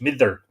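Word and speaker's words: Midir: fairy chief meteor midter apparently you pronounce the d in the middle of two slender vowels like that like a th mither a noted fairy chief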